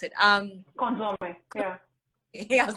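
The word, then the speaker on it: consommé: She's made reductions and sauces, vinegars, and consumes. I don't know how you pronounce it. Consomme, yeah.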